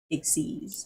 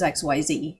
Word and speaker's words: XYZ: But in the manual, it said, XYZ, and in parentheses pronounced Ixies. Oh, they wrote that out there? They wrote that there. I didn't even know that. Or at least I remember it. I'm supposed to and be that's judge. where I got it from. Because I thought it was XYZ.